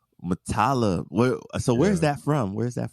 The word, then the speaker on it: Muttalib: Muttalib. Where's that from? It's Arabic. Yeah, it's an Arabic name.